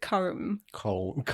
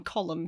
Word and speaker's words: Colm: But I used to pronounce it comb.